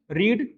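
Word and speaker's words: read: रीड V1 है, इसका V3 होता है रेड, स्पेलिंग वही होती है, पढ़ते हैं इसको रेड, रीड रेड रेड।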